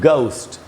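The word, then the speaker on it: ghost: देखिए यहां लिखा है when ji एच अपीयरर्स एट the very beginning बिल्कुल शुरुआत में ही जी एच हो एट ऑफ a base word कोई भी जो मूल शब्द है it sounds like a heart जी तो उसका उच्चारण अक्सर आपको ग बनता हुआ दिखाई पड़ेगा।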